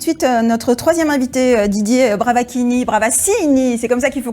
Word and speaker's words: Bravaccini: On va accueillir tout de suite notre troisième invité, Didier Bravaccini, c'est comme ça qu'il faut qu'on prononce.